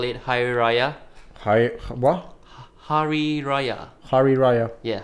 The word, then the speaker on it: hari raya: the Malays call it hi raha hai wah hari raya hari raya yeah hari raya hari raya is that is that the pronunciation sorry right yeah how are you hari